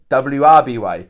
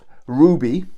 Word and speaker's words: RWBY: through um yeah uh Ruby I always promised this wrong RWBY I used to pronounce it w r b y but it's Ruby okay now this is